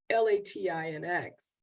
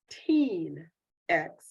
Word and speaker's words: Latinx: to a question on how they pronounce this word l-a-t-i-n-x and 42 percent said they pronounced that word latinx 40 almost 46 said they pronounced the word like Teen X and almost six percent say they pronounce the word La Tink and there was little over six percent that pronounced the word some other way didn't give those other